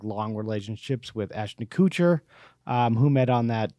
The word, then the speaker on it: Kutcher: long relationships with ashton kutcher um who met on that movie uh just married couture ashton kutcher isn't it that's definitely kutcher i i thought it was coocher okay the cooch mark